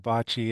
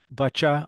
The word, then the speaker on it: boccia: Well, on the pronunciation, I'm pretty convinced that bocce is the North American Canadian accent. Boccia.